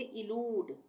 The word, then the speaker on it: elude: जैसे यहाँ पर ELUDE, यहाँ पे भी ये दो कॉन्सोनेंट है, इसके बीच में यू है और यहाँ पर भी ई आ रहा है, ठीक है, लास्ट में। तो यहाँ पर इन शब्दों में इसका उच्चारण ऊ होगा, बड़े ऊ की मात्रा लगेगी, यानी इसको हम पढ़ेंगे इलूड।